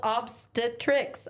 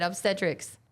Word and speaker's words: obstetrics: surgical specialty focused on pregnancy is called obstetrics. Oh, that's what I just said. Obstetrics. Obstetrics. Yeah, Thank you. yeah. I was putting the emphasis on the wrong syllable.